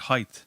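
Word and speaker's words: Howth: And they even places like Hoth, which I call it Hoth. But if you meet people from Hoth who are like really got a few pound and stuff, they say it like it's the word height, Height.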